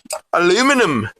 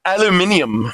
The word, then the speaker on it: aluminium: Aluminum, or as the British say, aluminium, because they like to add letters, I guess.